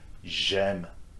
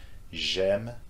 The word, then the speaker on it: j'aime: Same will go for j'aime, j'étudie, for these two verbs that start with vowels, okay, A and E. J'aime, j'étudie.